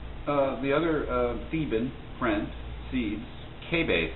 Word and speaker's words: Cebes: Then Cebes, the other Theban friend, Cebes, K-base is probably the way that you'll hear it pronounced, more proper, but we'll just say Cebes.